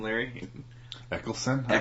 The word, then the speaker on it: Eccleston: Eccleston? I believe? Eccleston.